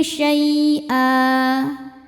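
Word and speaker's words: شَيْئًا: Nah, ketika berhenti di sini hukumnya mad iwad karena ada baris tanwin fathah yang diwakafkan. Cara bacanya panjang dua harakat tanpa ada bunyi n lagi.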